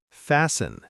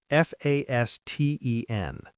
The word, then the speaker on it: fasten: When T comes between S and another consonant, it often disappears.